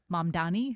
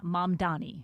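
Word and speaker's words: Mamdani: Mandani, right? See, I said it wrong. But I always say Mandani because Manni. Yes. Is that the correct pronunciation? That is the correct pronunciation. Mani.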